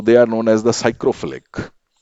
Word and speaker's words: psychrophilic: If they are loving very cold conditions, so they are known as the psychrophilic. P is silent over here. So they are known as the psychrophilic bacteria.